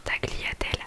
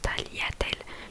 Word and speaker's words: tagliatelle: pris l'habitude de dire tagliatelle alors qu'en fait ça se prononce tagliatelle. Le G ne se prononce pas tout simplement parce qu'il y a GLI du coup.